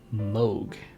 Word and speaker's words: Moog: can learn apps in like a cathedral say Moog I learned is how that's pronounced basically the only synthesizer brand I know